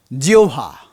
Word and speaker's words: জিহ্বা: এরপরে ও যোগ এই ল্যাবিহল হল্যা বিহভল জিওভা আমি প্রথমদিন বলেছিলাম না জিওভা জিব্বা নয় জিওভা এই একই রকম একই রকম এই